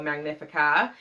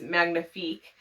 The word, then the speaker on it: Magnifique: Crate video was, but I was pronouncing the book Hotel Magnifica. A few of you left comments reminding me that it was Magnifique, which, thank you.